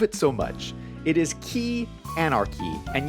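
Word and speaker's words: quay: It is Key Anarchy, and yes, you pronounce it key.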